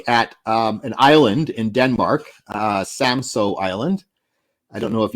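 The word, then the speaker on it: Samsø: In fact, I used to call it Samsu Island, and I learned how to pronounce it properly from a young Haida man when I was up on Haida Gwaii once.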